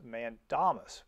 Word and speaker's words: mandamus: what's called a complaint for a writ of mandamus now my wife's a latin teacher she tells me it's pronounced mandamus but whatever so what that is is a